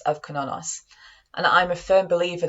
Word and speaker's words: Cernunnos: So that's why I pronounce Cernunnos.